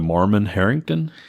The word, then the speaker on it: Marmon-Herrington: typical Charlie how do you say it the Mormon Harrington thank you combat tank light and tank and